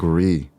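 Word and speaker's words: Gris: And I think is it pronounced Gree or Grizz? Is it? I've heard Oh, it I was don't pronounced know. Gree.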